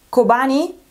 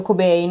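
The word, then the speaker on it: Kobane: Dovrebbe pronunciarsi Kobani, Calling, Google mi dice Kobani come pronuncia, io ho sempre detto Cobain, no? Per Kurt Cobain, e c'è anche una battuta riguardo sul fumetto, tra l'altro, comunque dovrebbe essere Kobani.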